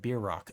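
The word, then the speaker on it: bierock: carry to mouth yeah pronounced like beer Rock oh okay gotcha I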